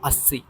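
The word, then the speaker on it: अस्सी: വായിക്കുക ഉനാസി ഉനാസി ഉനാസി അതിനുശേഷം അസി രണ്ടുവട്ടം സ ഡബിൾ സ ആണ് അപ്പൊ അസി ഇക്കത്തർ ബഹത്തർ 7 7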